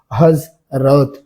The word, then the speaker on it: হজরত: যেমন হজরত, উচ্চারণে বর্গীয় জ হজরত। যদি, উচ্চারণে কি?